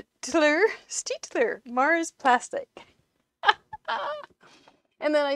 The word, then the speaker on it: Staedtler: a good job so staedtler or steeler because in german you pronounce the second vowel i think is a long vowel stitcher mars plastic and then